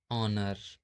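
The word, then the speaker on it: honour: जब ओ से पहले एच आता है तब हमेशा एच साइलेंट होता है। जैसे ऑनर, ऑनेस्ट, आवर, इको। तो हम लोग जैसा कि स्टार्टिंग से पढ़ते आ रहे हैं कि यहां अगर एच है इसको हम होने पढ़ते थे। लेकिन यहां जो है एच साइलेंट है। इसको हम क्या पढ़ते हैं? क्या प्रोनाउंस करते हैं?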